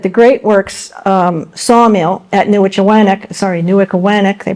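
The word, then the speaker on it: Newichawannock: Another 15 to 25 Scottish prisoners worked at the Great Works sawmill at Newickawanack, they pronounce it, South Berwick, Maine, which was a 20-saw operation.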